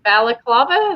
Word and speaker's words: balaclava: Is it balaclava? Is that right? It's not baklava because baklava is a dessert.